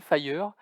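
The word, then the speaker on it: FHIR: santé dans le monde dont l'acronyme lfh ir prononcé fire qui veut dire fast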